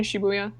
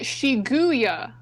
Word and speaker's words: Shibuya: That in Shibuya. Or as you call it, Shiguya. Is it not? That's not like a pronunciation thing. That's just the wrong word.